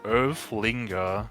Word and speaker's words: Earthlinger: So, I just got word that the pronunciation is Earthlinger. Alright, sure, whatever. Earthlinger. That seems fine. Earthlinger, okay.